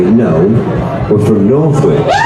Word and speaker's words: Northwich: Norwich? Is that how you say it? Northwich.